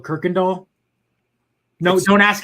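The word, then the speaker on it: Kuykendahl: uh in houston we've got a street called kirkendall no don't ask how people spell it don't ask how to say it it's it's pronounced kirkendall it is it's got like a y it's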